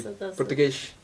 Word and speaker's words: Português: we say Portuguese, and in Portugal they say Português. They have this pronunciation of the S after the word, which is very different.